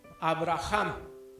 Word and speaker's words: Abraham: cambia el nombre y le pone avraham así se debe de pronunciar pero no lo pronunciamos bien todos les decimos